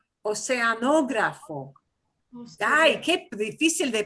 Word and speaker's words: oceanógrafo: Oceanógrafo, oceanógrafo, con acento en la segunda O. Oceanógrafo.